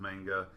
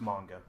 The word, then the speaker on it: manga: I've had friends that have let me borrow one or two volumes of manga, and mostly what I read was... It's pronounced manga.